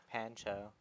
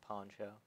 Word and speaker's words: Pancho: Pancho, not Poncho. Pronounce that as ah.